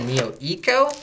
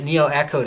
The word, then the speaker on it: Neo Eco: But everyone from Antec keeps calling it Neo Echo to me. So I'm like, okay, well, I guess I better pronounce it their way.